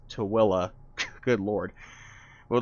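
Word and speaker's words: Tooele: Yes, that is how you say that. It's not Tui, it's not Tuil, it's Tillaa.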